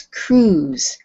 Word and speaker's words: cruise: Okay, so that word is cruise. So when you say it, it doesn't really, it's not exactly the way it's spelled. So it sounds like this.